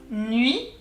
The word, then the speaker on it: Nuit: UI in French is oui, nuit, the T is silent, so let's go ahead. Nuit, nuit.